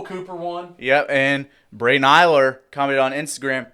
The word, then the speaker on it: Ehler: So we got If we said it wrong, we're sorry. Braden Eiler. EHLER. We're going with Eiler.